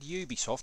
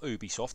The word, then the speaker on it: Ubisoft: Ubisoft game that's right I said Ubisoft not Ubisoft because I'm not French I'm not Continental therefore you should pronounce it Ubisoft that is a factual